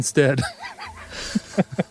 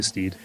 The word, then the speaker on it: Stead: But she mentioned that her name is Jen Stead. So we've only been pronouncing her name wrong for a couple years now. Well, I think she's incorrect. Exactly. So Jen Stead, I just want to let you know that we'll still call you Steed.